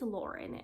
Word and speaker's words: Lahren: it is by tommy i'm assuming it's lauren is how you pronounce her last name if you don't know